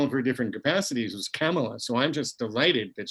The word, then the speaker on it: Kamala: It's Kamala. Yeah. But it doesn't rhyme with Mamala.